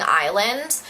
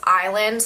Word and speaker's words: island: book called like something Island, but I didn't know that it was island, not island, so my bad, I was just pronouncing it phonetically.